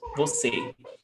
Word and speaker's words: Você: Você. But according to the rule, oxytona terminada em e. Oxytona ending in e.